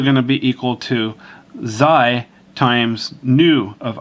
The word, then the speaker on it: xi: This is going to be xi, pronounced xi.